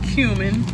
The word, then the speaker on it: cumin: Cumin.